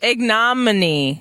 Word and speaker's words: ignominy: deal with that Thanks ain't no ignominy ignominy okay there we go aghh non like ignorant or ignorant there you go that's how you pronounce that word audience ignominy that's right